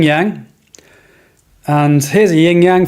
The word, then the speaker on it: yang: Yang with fang. Yang rhymes with fang. Think about a white fang.